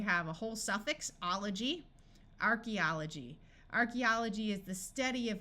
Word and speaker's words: archaeology: that is completely confused archaeology AE says e in this word and here we have a whole suffix ology archaeology Archaeology is the study